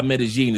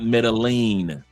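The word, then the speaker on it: Medellín: Two L's make a G sound. That's why Medigene is not metalene is not metagene.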